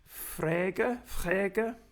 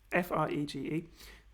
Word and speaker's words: Frege: begun by, and I don't know how to pronounce his name, Frege, F-R-E-G-E, Frege, or Frege, and Wittgenstein.